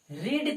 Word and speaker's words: read: या दोस्तों, ही रेड a story book रीड का तीनों फॉर्म सेम होता है, लेकिन उच्चारण में अंतर आता है।